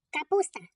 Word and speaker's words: капуста: Капуста. Кличемо її. Капуста. Наголошений у.